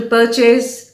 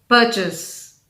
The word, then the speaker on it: purchase: used a coupon to purchase a dress with a stress on the first syllable per purchase purchase it is not